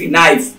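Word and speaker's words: knife: আমরা লিখছি কে remains always silent, কে তাহলে চুপ হয়ে যায়, এটাই হচ্ছে নিয়ম।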